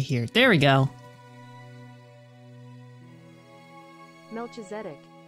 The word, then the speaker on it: Melchizedek: Melchizedek. Melchizedek. That's how you say it? Melchizedek.